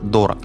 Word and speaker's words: дорог: Интересно, что сам-то он вообще поначалу ставил ударение в название альбома на первый слог. Не «Город дорог», а «Город дорог». И вот на городе дорог он придумал свой маленький мир внутри одного большого города.